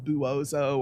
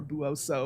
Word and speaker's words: Buoso: And then it's paired with a contemporary sequel called Buoso's Ghost. And Buoso also looks like it might be pronounced Buoso or Buoso or something like that, but it rhymes with bozo, Buoso.